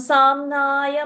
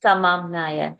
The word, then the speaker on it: समाम्नाय: Soham samnaya mayastapomaya. Soham samamnaya mayastapomaya. Oh, samamnaya. Did I say samnaya? I think I said it wrong. You said Okay. samnaya, but I It is samamnaya.